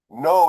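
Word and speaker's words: gnow: you have to um no is spelled g n o w oh yeah we got it's not with a K it's GN o w okay thank you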